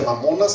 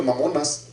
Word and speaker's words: mamonas: Bueno, las riquezas de las que habla ahí son un derivado de una palabra aramea que se pronuncia mamonas, así como se escribe mamonas.